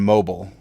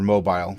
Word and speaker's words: mobile: So we have athlete, observant, and mobile. Or mobile, depending on how you want to pronounce it.